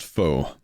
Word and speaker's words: faux: Is it fox or fox? Uh, the word is pronounced fox.